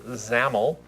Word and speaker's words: XAML: One says mainwindow.xaml, sometimes pronounced XAML.